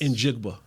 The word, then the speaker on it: Njigba: Pronounce his last name. Jackson Smith Njigba.